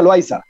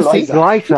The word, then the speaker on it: Loaiza: Se pronuncia Loaiza. Aquí se pronuncia Loaiza. Pero se puede decir porque es L-O-A, ¿verdad? Z y lo demás. Pero. Ah, también, Loaiza.